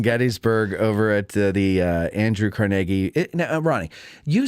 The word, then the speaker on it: Carnegie: Yes, it's a conversation with Matt Callery of Addressing Gettysburg over at the Andrew Carnegie. Now, Ronnie, you say Carnegie, but the rest of the world says Carnegie.